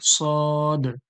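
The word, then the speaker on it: صاد: কি সদ এটা কি সদ সদ সোয়াদ নয় সদ সদ এরপরে দেখুন সদ সদ এরপরে দেখুন উপরে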